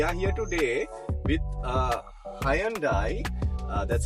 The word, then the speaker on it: Hyundai: and uh we are here today with uh Hyandai uh that's how you pronounce it usually Sri Lankan say Hundai myself included uh and we're in a Sonata